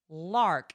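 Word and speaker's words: Larq: Lark. It's spelled l a r q, and I'm assuming it's Lark. It could be Lark a.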